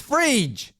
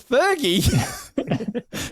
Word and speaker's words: Phryge: Now, I've actually looked at the pronunciation. It's Phryge. Phryge. Phyrge. It's Phyrge.